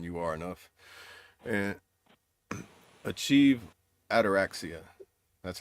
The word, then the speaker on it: ataraxia: And achieve ataraxia.